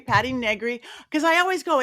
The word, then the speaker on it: Negri: because I always go, it rhymes with nothing. My entire life, decades going, Negri rhymes with nothing. And it's a weird name that people get, how do I say that name right? I used to was able to say Begley, rhymes with Ed Begley, who's an actor and